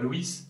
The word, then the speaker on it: Louÿs: donc le whisky pierre louis qui désormais a choisi comme ce délit pierre louÿs ça s'écrit avec un tréma solo y décèle cependant